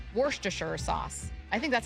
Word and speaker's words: Worcestershire: How do you say Worcestershire sauce? I think that's how you say it. Worcestershire, yeah. Worcestershire. It looks like Worcestershire. Yeah, it looks like Worcestershire, but that's a lie. It's right. Worcestershire.